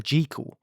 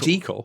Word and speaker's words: Jekyll: Jeekel? No, I don't remember that, actually. It was Dr. They all pronounced it Jeekel? Yeah, they all said Jeekel.